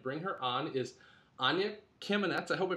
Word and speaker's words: Kamenetz: Our guest, I'm going to go right ahead and bring her on, is Anya Kamenetz. I hope I pronounced your last name correctly, Anya.